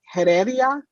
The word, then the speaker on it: Heredia: I just want to support Commissioner, I'm going to say this inappropriately, and I'm sorry, Heredia? Is that how you say it? The H is silent.